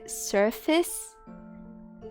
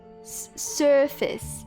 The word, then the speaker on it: surface: the vowel is like there's a vowel in front of the R so the vowel determines how the r is pronounced try surface surface surface oh my God you